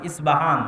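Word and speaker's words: أصبهان: আমরা প উচ্চারণ করি ইস্পাহান, আরবিতে এটা উচ্চারণ হয় না। আরবিতে হয় আল আসবাহানি, বা উচ্চারণ হয় ইসবাহান বা আসবাহানি।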